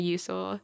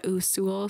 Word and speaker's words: Usul: custom like the TV show Dexter on a usil on a usul sorry and I love them so much like